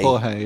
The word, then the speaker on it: Jorge: Jorge, yeah.